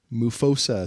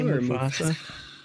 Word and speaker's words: Mufosa: Can you not say Mufasa? Well, it's spelled M-U-F-O-S-S-A. If it was Mufasa, it would be M-O-U-F-O-S-S-A, wouldn't it? No, it would be M-U, but.